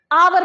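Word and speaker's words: hour: का आता है जैसे आवर के केस में ठीक है यहां पे केस क्या है आप लोगों का बबल साउंड बबल साउंड है ए साइलेंट रहता है आवर बन जाता है ये ठीक है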